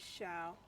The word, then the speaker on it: Xiao: i missed shao is that shao it is shao why why is he here why are you